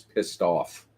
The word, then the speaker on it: Pistoph: He has Pistoph, like Topher or Christopher, but it's Piss Toph. So pronouncing it is Pissed Off.